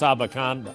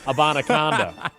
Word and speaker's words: Abanikanda: You just wanted to show off that you can correctly pronounce Abanikanda. Yes. Abanikanda.